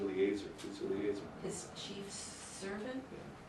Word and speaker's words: Eliezer: Actually, it's A. E is pronounced A. Eliezer.